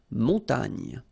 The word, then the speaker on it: montagne: So remember here, O-N, on, mon, ta, and then this G-N-E, nye, nye. Montagne.